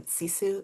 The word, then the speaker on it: sisu: Am I mispronounce like how do you really say the word um cisu like what that's good sisu.